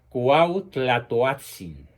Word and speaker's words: Cuauhtlatoatzin: indígena san juan diego cuauhtlatoatzin repito la pronunciación muy difícil de la uat cuauhtlatoatzin quien no había sido bautizado